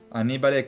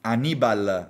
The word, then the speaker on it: Annibal: Ok, Annibale Cannibale, eccolo qua. Annibal Moreno, l'accento fondamentale.